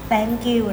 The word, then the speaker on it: thank you: thank you นะ คะ ออก เสียง ให้ ถูก นะ คะ คำ นี้ บาง ที เวลา รีบ พูด บาง คน เผลอ พูด เป็น แบงค์ อยู่ ห้าม เด็ด ขาด นะ คะ thank you นะ คะ ห้าม แตะ